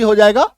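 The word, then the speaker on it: his: mail तो इसका अंग्रेजी हो जाएगा हिज एच आई एस हिज इसका उच्चारण देखिए इसको हिज मत बोलिएगा ही ज नुक्ता हिज हिज थोड़ा सा बस साउंड के साथ बोलिएगा हिज क्लियर है नेक्स्ट देखो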